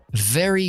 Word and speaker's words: very: Leave salir Live Vivir la v es bilabial eh la v no es bilabial Es decir no juntamos los labios como la b y hacemos b b si no es lo que llamamos labio dental es decir ponemos los dientes superiores en el labio de abajo igual que la f pero activamos la voz entonces v v very good no very very good very las